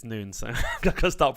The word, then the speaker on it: Nunes: on really excited to be discussing the biggest noons Insidious business today uh yeah thank you so much for the invitation my pleasure man you've already told me something it's noon so I've got to stop pronouncing it right correctly I'm so bad at